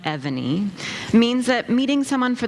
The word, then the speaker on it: Evany: Having an unusual name like Evany means that meeting someone for the first time can be fraught with pitfalls. Ebony is a favorite misstep, and it's always accompanied